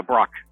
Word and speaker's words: Brauch: exclusive special guest and this time it's Sean brooch from am I pronouncing that right yeah Brock yeah you see that's the uh I'm just